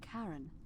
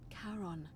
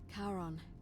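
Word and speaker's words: Charon: is a little off the name you heard wasn't Karen it was c h a r o n as in karon the Fairman of the Dead karon who in exchange for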